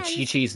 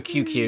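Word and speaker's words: Qiqi: I did not call Chi-Chi Chi-Chi. I called her, because it was short for QQ, because I was like, I don't know what the fuck your name is, you're QI, you're QQ now. And I stuck with that, or for short, until they actually went, oh, this is Chi-Chi.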